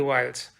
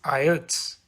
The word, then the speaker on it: IELTS: The topic for today is Introduction to IELTS. Before moving further, let's first understand how do we pronounce this. I've heard many people mispronounce it, but don't worry, I'm here to help. It is IELTS.